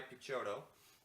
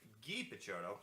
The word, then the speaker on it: Picciotto: a guy a guy Picciotto sorry Geetha Jono he uses the French pronunciation because he's an [